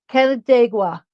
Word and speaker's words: Canandaigua: Canandaigua, New York.